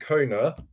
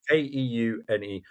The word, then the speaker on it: Keune: I've just started using products from a brand called Keune and that's how you say it. I've checked it. K E U N E Keune.